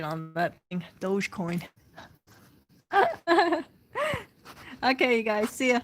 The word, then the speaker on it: Dogecoin: crap you know what yeah i think it's douche coin dogecoin douche coin dollar coin i gotta work my pronunciation on that thing dogecoin okay you guys see ya